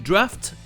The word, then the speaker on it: draught: Il y a juste 2 exceptions où le GH se prononce F. Le mot britannique draft et le plus connu, le verbe laugh.